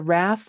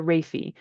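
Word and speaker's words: raphe: So a little bit of slime in their slimy bofilm from a structure called the raph or the raffy. And either pronunciation is fine.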